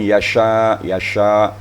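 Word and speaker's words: يشاء: Kemudian yasha, makhrajnya antara lidah dan langit-langit tengah. Langit-langit tengah dan lidah tengah. Yasha.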